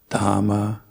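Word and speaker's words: Dhamma: a couple times before we usually don't pronounce H's unless it's at the start of a word so dhama pudha and Sangha and then also very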